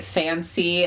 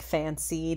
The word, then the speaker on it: Fan-Sea: Fancy is spelled in the name as you see on screen here, and I thought fantasy, it's kind of weird that they don't have, like, the T sound in there.